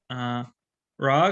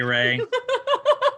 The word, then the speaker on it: Ray: I'm slightly disappointed that I've known you for this long and you just mispronounced my name. Sorry, Ray. We were talking about the Egyptian pantheon, and that's what did it. That's okay. My name is Ray.